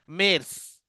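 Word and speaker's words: März: यानुआर, यानुआर means जनवरी, pronunciation different रहता है, यानुआर। फेब्रुआर, फेब्रुआर, यानुआर, फेब्रुआर। मेर्स, मेर्स means मार्च, मेर्स, मेर्स।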